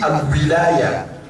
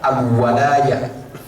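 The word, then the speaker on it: الولاية: Et par erreur, on dit al-wilaya. Wa kana al-mafrud an naqula al-walaya. Zalika al-walayatu lillahi haqq. Parce qu'en réalité, le mot se prononce plutôt al-walaya que de dire al-wilaya.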